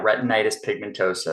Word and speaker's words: retinitis pigmentosa: And from what I may pronounce it wrong, but from what I was reading, it's retinitis pigmentosa. Yeah, retinitis pigmentosa.